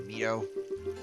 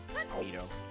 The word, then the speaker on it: Mido: Or Mido. It's Mido, I think that's how you pronounce it. Mido. But some people pronounce him as Mido, so.